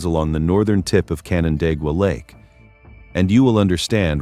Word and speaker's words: Canandaigua: If you have never tried to pronounce it, here is your free pass. It is Canandaigua, and the name itself is the first thing